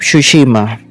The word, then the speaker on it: Tsushima: So, Ghost of Tsushima. Yes, I pronounce it right.